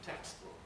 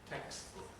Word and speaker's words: textbook: in english it's uh striking in words like textbook texts voiceless book voiced mispronunciation textbook textbook texas book correct pronunciation textbook textbook texas just have a